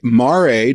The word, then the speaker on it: Mare: So is that really how you say it? Mare? Yeah. Not mare? Yeah. Mare? No, mare is horses, mare is big stony pits.